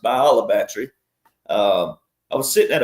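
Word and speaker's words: Bayou La Batre: U my seventh great-grandfather named and discovered it's it looks like Bula Battery, but it's by it's pronounced Bolabatry.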